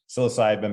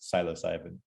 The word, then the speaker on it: psilocybin: side of the pond we we say psilocybin but as i understand there in the uk it's pronounced psilocybin now what's really interesting about